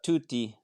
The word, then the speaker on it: Tutti: in am i pronouncing it correctly yeah it's pronounced tutti so tutti in italian means everyone or all so that's